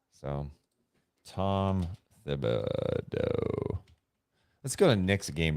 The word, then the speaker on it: Thibodeau: He says, I've always thought it was pronounced with a hard T. Last night, BA was pronouncing it with a hard T, but Van Gundy was pronouncing it with a TH. Please sell this. I heard that. I did not notice that. I thought it was Thibodeau.